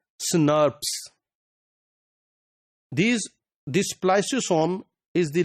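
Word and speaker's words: snRNP: ribonuclear proteins SN rnp or normally they are pronounced as snars these this spos is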